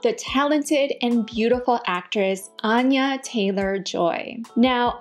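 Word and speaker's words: Anya Taylor-Joy: Here is her pronouncing her own name. Hello, I'm Anya Taylor Joy. Anya Taylor Joy.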